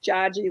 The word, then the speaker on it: Jaji: It's Jaji, like Jackie.